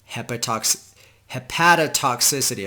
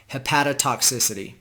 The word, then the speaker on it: hepatotoxicity: called Mechanisms of Inflammatory Liver Injury and Drug-Induced Hepatotoxicity. I've been saying it wrong. Hepatotoxicity.